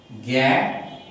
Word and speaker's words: জ্ঞান: এটিকে যদি আমি, যখন এই বর্ণটি, এই যুক্ত বর্ণটি শব্দের শুরুতে বসে তখন উচ্চারণ হয় জ্ঞান অথবা বয়জ ফলায় আকার জ্ঞান, কিন্তু যদি পরে শব্দের ভিতরে বা শেষে থাকে তখন কিন্তু হবে গ, তখন হবে গ।